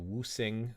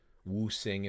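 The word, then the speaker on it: Wuxing: So in Mandarin, when you use English romanized characters, X means you pronounce it like an SH. So Wusing, if you want to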